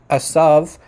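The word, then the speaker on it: עשו: It's not a theory that the name Isu, or Hebrew pronunciation Asav, begins with the letter Ain.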